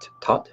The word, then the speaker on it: Thoth: healthy maximum and then thth is going to come in and when th comes in and the name is also traditionally pronounced to but th is a more common cultural pronunciation and how one language